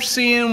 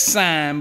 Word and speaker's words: sine: But this inverter is a 2000 watt pure sine wave inverter. And yes, I know that you pronounce that sign, but I like saying sin.